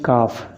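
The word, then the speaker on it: calf: इसको पढ़ते हैं काफ, यानी एल नहीं पढ़ा जाता, इसलिए साइलेंट शब्द होगा एल।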